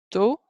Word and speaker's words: tôt: If it's got that accent mark, or if it's a short word and it's the last sound in the short word, or the last sound in the syllable, as in this one, it's going to say O, O.